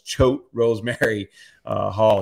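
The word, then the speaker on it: Choate Rosemary Hall: last time I remember I couldn't pronounce the school it's choke Rose Mary Hall he's that's where he's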